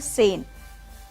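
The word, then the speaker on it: zehn: तो ये हमारा जेन नहीं है, इसका प्रोनाउंसिएशन है सेन, क्योंकि जेड जो है वो ई के साथ मिल गया तो उसकी साउंड स होगी. तो इसको हम बोलते हैं सेन. सेन होता है 10.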